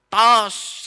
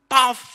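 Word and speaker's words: טוב: Tos. Sebetulnya itu bukan tos. Yang diucapkan itu tof gitu loh.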